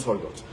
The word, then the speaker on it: Czolgosz: creo que se mencionaba, se pronuncia así, Leon Czolgosz, y fue el que